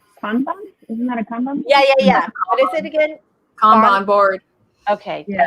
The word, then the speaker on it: kanban: Kanban. Kanban. Kanban. Yeah. It's All Japanese, so it sounds exactly like it's spelled like exactly how it sounds.